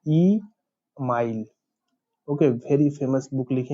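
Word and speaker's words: Émile: इनके बुक का नाम है ई माइल, नॉट ईमेल, ई माइल, okay, very famous book लिखे हैं ई माइल।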